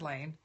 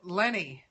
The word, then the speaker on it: Lehne: And I think now he's pronouncing it Lenny because nobody knows how to pronounce L-E-H-N-E.